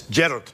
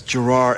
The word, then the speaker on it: Gerard: do that accent and we do the opposite in Scotland it's gered it's like the it's yeah gered it's the emphasis on the first part but here in America it's Gerard and it goes Gerard